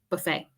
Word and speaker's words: buffet: I think in other languages, you do pronounce the T, but in English, buffet.